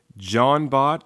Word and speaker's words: Jean-Bot: pronounce Jean BOTS name I've heard some people say yeah John BOTS like I guess like French like kind of like John Claude Van Damme but for now I'm